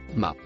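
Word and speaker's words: ما: Le mot vert se prononce ma.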